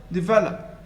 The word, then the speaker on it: develop: here is that but the first and last syllable are almost inaudible develop develop develop so we've